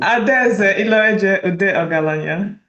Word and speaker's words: Adaeze Iloeje Udeogalanya: You pronounce it, tell me. Adaeze Iloeje Udeogalanya.